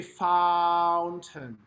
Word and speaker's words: fountain: Now, fountain, fa, ah, as if you're singing fa, like the syllable fa, mi, re, do, right? It's a tall vowel.